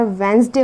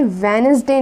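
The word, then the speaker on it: Wednesday: Name में जो हमारा वेंसडे होता है, ज़्यादातर इसको सब गलत प्रोनाउंस करते हैं। इसको सब गलत प्रोनाउंस करते हैं। ये वेनसडे नहीं होता है, बल्कि ये होता है वेंसडे।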